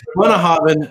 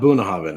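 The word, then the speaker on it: Bunnahabhain: Bunnahaven, not Boonahaven. How in the hell do you pronounce Bunnahaven as Boonahaven?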